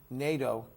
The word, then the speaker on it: Nadeau: So without further ado, I'd like to welcome Nadeau, who's here. I pronounced that right?